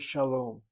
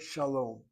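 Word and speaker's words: שלום: The word shalom, from the point of view of syllabication, as I write the word out, you have a CV for the first syllable, second syllable CVC, long vowel closed is accented.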